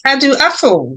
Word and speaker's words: Adu-Afful: Today we have with us Prince Adu-Afful. Welcome, Prince. How are you? Good. I'm very well. In fact, you do pronounce my name very well.